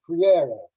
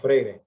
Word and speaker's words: Freire: And the way that I say it, according to the northern Brazilians where I learned Portuguese from, is freire.